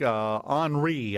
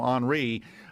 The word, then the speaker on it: Henri: Man, now we've got Grace, but we also have up in the Atlantic, Henri, I believe is the way Henry is pronounced now, Henri, up around the Bermuda area.